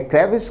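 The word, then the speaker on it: crevice: है विद्यार्थी ध्यान दें शब्द का उच्चारण है क्रेविस क्रेविस का अर्थ है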